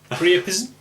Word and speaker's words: Pryapisme: Pryapisme. Pryapisme. Pryapisme. Well, it's French, isn't it? So they wouldn't pronounce the E.